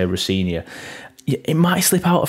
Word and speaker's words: Rosenior: thank you we will mention rosania sorry not rosania Rosia I will make sure to say rinia it might slip out a few times rosania